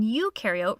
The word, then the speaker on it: eukaryote: like to remember that pro in prokaryote rhymes with no, and eu in eukaryote rhymes with do.